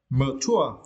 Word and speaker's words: mature: And for the next word, mature, yeah, and for this word you need to stress the second syllable, tour, okay, mature, yeah.